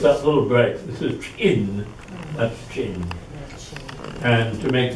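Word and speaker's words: Qin: about so it's that little bre this is chin that's chin and to make things more complicated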